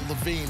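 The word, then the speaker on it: LaVine: It's Levine, but you should spell it differently, okay?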